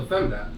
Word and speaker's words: femdot: So femdot, is that how you pronounce it?